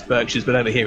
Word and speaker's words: Berkshires: porters um Berkshires um is it Berkshires or Berkshires because the um Americans like to pronounce things differently over there for some reason it's Berkshires I'll never understand why